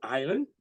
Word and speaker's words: island: Example, island, the S is silent.